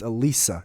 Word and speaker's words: Elisa: Fuck, it's not Alyssa, it's Elisa, right?